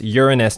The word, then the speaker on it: Uranus: And at that scale, I could fit in Neptune, Uranus, which I pronounce Uranus to avoid those stupid jokes, but anyway, I'd be